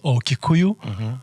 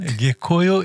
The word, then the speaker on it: Gikuyu: Gikuyu, which is Kikuyu. So Kikuyu is the anglicized pronunciation. Gikuyu is a proper...